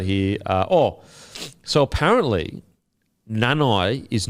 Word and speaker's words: Nanai: to talk about here uh oh so apparently nanai is not pronounced nanai apparently it's nana and i'm not taking the